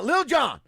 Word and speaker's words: Lil Jon: And then Lil Jon is Oh, my doing goodness. the Why do you say it like that? Baltimore Ravens, Cincinnati Bengals because it's spelled L-I-L. I know Lil. how it's spelled.